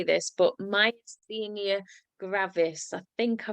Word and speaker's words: myasthenia gravis: Now, Tamara was diagnosed with, and I can never say this, but myasthenia gravis. I think I pronounced that right, Yes.